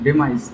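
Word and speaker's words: demise: अब next word है हमारा डिमिस। डिमिस का मतलब होता है मृत्यु। डिमाइस, डिमाइस भी कहते हैं, प्रोनाउंसिएशन में अंतर होता है थोड़ा, तो डिमाइस भी कहते हैं।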